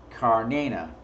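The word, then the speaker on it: Cernunnos: whom the Romans called care Nuno's pronounced car Nina there we go car Nina meaning simply the Hornet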